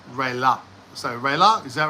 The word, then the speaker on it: Raela: The spelling is Raela. Raella, but it's pronounced Raila.